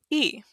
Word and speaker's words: y: Now, if we say and, in Spanish it's just one letter. E. Sounds just like the letter I, right?